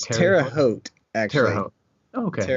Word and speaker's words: Terre Haute: to be here thank you how do I pronounce that Symphony Orchestra its Terre Haute Terre Haute okay it's like a in western